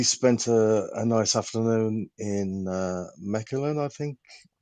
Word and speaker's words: Mechelen: We spent a nice afternoon in Mechelen, I think it's pronounced.